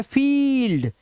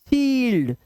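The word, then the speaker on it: field: अब इसे पढ़िए: 'फील्ड', 'thief', 'फील्ड', 'priest', 'विल्ड', 'brief', 'brief', लंबा स्वर। ठीक है? जब किसी शब्द के मध्य में 'i-e' आता है, तो 'i-e' का उच्चारण 'ee' की तरह किया जाता है।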